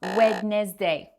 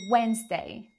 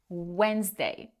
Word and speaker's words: Wednesday: Another classic is this word, and no, it's not Wednesday. It's Wednesday. Wednesday.